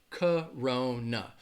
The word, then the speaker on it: Corona: hear all the time Corona so it has three syllables but the first and the third syllable are going to have that schwa that sound alright so when you